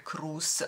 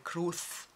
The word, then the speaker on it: Cruz: arrivata la notizia che la z dovrebbe essere un po più dolce dovrebbe essere pronunciato un po più dolcemente però stava pronunciando semplicemente all'italiana quindi penelope cruz mi è noto però